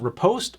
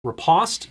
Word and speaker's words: riposte: And then we have Riposte or Riposte, depending on if you're in the US or I think the UK was the other pronunciation for it.